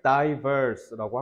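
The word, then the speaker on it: diverse: 듣고 바로 오반하시면 됩니다 자 이거는 발음을 divers라고 하면 돼요 여러분 단어장 1부터 5회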